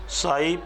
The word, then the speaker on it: psi: और नाम होता है साई PSI, P साइलेंट होता है, साई कोस।